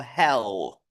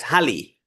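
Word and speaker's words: Halle: I wrote through the veteran and exceptional scholar, Rabbi Henich of Hell. Is that how it's pronounced? Nope. In Hebrew, you can see it's Hali. That's how I know it's pronounced.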